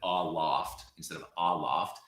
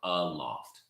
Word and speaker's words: aloft: Oh, so in that case, instead of aloft, I would say it's more aloft. You hear that? It's what we would call an IPA a schwa, but it's aloft, as if it were UH loft.